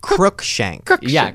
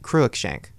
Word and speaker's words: Cruikshank: shank was gay wait how do you say your last name Kook shank crook shank I've been saying it wrong you know what you say kruck shank oh yeah yeah hear